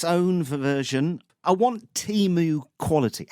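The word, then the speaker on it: Temu: say Team U, but yeah, James, you say Timu, don't you?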